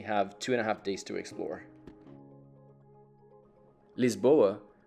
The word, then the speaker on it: Lisboa: Lisboa, which is how it's pronounced in Portuguese, is a mix of at least 6 different cities from around the world.